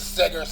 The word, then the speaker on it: Siggers: He's a beggar and he's a his name is SIGGERS and it rhymes with beggar and it rhymes with beggar.